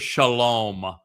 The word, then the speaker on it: shalom: Shalom. Where do you think the O sound comes from in shalom? Wah. The Wah.